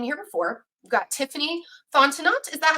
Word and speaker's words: Fontenot: We've got Tiffany Fontenot. Is that how I say your name, Tiffany? And yes. Unmute. It's Fontenot. The T at the end is silent. It's French.